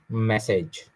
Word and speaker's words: message: Message. Ma is wrong. Message. A sound again.